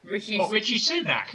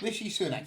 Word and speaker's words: Rishi Sunak: Anyone know how to pronounce his name? Sorry? Rishi Sunak. Rishi Sunak.